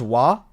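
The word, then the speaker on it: は: So wati wii right watashi wah is if you spell it in English is this but you have wah this way this is wah and then you have wah the particle but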